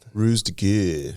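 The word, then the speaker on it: ruse de guerre: I don't know how to pronounce that. Ruse de Gurre.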